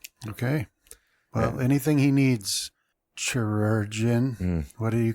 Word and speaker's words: chirurgeon: It's basically pronounced the same, just chirurgeon.